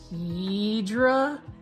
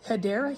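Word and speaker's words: Hedera: Hedra, say it with me, Hedra Helix, or the correct way to say it is Hideera Helix.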